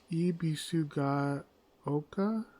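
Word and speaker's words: Ebisugaoka: Ibisu Gaoka?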